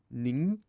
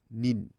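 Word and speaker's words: 人: The earlier borrowing reads it as nin, while the Tang borrowing, the later one, reads it as jin.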